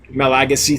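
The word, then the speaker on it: Malagasy: madagascar rainbows oh is the madagascars is the malaga say or yeah how do you say that okay my legacy thank you thank you thank you it's good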